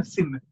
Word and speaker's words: scene: Scene yang kedua, bukan skin, bahasa Inggrisnya kan SCENE, tapi bacanya scene.